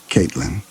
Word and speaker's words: Caitlyn: Two syllables. Emphasis on the first. Caitlyn.